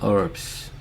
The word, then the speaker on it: herb: most beautiful flowers and herbs. 단어 볼게요. be full of 하면은 뭐뭐로 가득한 herbs 하면 미국 사람들은 하고요. 영국 사람들은 herb라고 해요. herb 그렇습니다. 둘 다 맞아요. 미국 사람들은라고 해요. H 발음이 나지 않습니다.